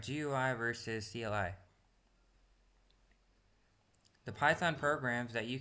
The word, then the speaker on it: CLI: This type of program has a command line interface or CLI. Command line interface. Command line interface which is pronounced like the first part of climb and rhymes with sky.